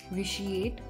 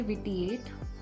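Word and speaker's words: vitiate: ठीक है, तो अब बढ़ते हैं दोस्तों हमारे सेकेंड वोकैब की तरफ, विच इज़ विशिएट। आप इसे विटिएट, वाइटिएट, विटियाट ऐसे प्रोनाउंस नहीं करेंगे, आपको इसे बोलना होगा विशिएट।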